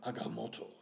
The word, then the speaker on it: Agamotto: It is called the Time Stone, also known as the Eye of Agamotto. You have to say it like that. You said it perfectly.